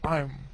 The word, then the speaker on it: I'm: I'm bacanya, bukan I am lagi tapi I'm.